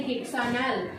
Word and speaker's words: hexanal: To merge it, we need to omit this A from this hexane and the name will be hexane Al, and the pronunciation will be hexanal.